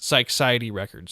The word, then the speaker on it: Psychiatry Records: I pronounce it Psychiatry Records, so it's like Psychedelic Society, but like chopped in half.